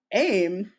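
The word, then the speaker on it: ऐं: and um Hinduism that aim the long I sound is actually e it's not I so these rosicrucians who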